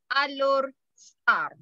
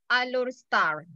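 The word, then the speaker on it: Alor Setar: So capital state of Kedah is Alor Star. Even the spelling is S-E-T-A-R. So the pronunciation is star. Star like twinkle, twinkle, little star. Okay, star. Alor Star.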